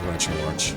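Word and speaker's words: RetroArch: into controversy but uh it is retro Arch or retro Arc depending on how you pronounce it Thunder Wave all right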